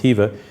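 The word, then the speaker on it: Khiva: In the middle of the Silk Road town of Hea, it's spelled KH Hiva, but pronounced hea.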